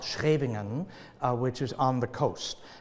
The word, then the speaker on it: Scheveningen: live in the Netherlands in a town called Scheveningen, which is on the coast, and which no non-Dutch native can pronounce, right? Scheveningen, it's a great word.